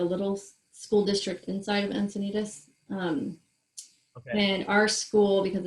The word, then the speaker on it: Encinitas: Encinitas, California, so just a little bit north of San Diego.